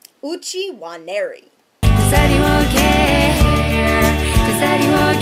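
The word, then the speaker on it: Uche Nwaneri: Uchi Waneri. Uchi Waneri. Uchi Waneri.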